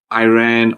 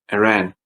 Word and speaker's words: Iran: Next on our list is Iran. Yeah. Again, don't say Iran or Iran. Please say Iran. It's song and Iran.